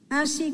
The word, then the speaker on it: ainsi: So the first one was ainsi. Ainsi, you've been writing it, yes, quite well. So A-I, N-S-I. And so remember, it's this nasal A-I-N-1-1-1.